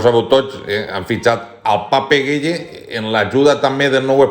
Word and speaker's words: Pape Gueye: I me diu: no, Presi, que Pape Gueye realment en francès se pronuncia Pap Gay.